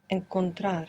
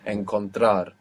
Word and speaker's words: encontrar: Encontrar. Encontrar.